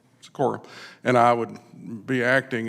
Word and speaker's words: Sikora: the outcome was that Sikora, is that pronounced your last name right? Sikora, and I would be acting until we get a consultant in to be an interim executive director.